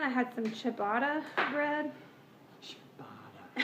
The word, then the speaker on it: ciabatta: Ciabatta.